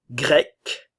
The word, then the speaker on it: grec: on entend le S français française la Grèce grec grec ok la prononciation est identique mais l'orthographe est différente grec